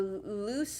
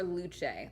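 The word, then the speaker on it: Luce: It's the loose or luche. Luche is how it's pronounced in uh Italian.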